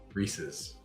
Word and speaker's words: Reese's: So how do you say it? Reese's.